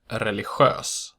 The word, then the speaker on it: religiös: GI only occurs in the word religiös. Note that religion does not have this pronunciation.